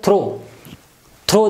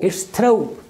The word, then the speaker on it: throw: you pronounce this word throw throw the word thr over W throw again at the end of this word we pronounce oh it's throw oh this diphthong so this diphthong sound